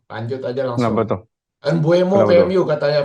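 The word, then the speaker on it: Mbeumo: Embuemo Kenapa ke tuh? MU katanya Felix. Lu gimana ngelihat Embuemo kayaknya bakal main di Bomo. kanan nih. Embuemo ya kan? Bacanya Bomo, Bomo. Bomo. Bomo, Sorry, Bomo.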